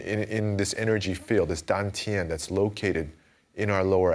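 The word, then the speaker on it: 丹田: Now, in Chinese, this is called dan tian, and in the Korean pronunciation, that's dan chan.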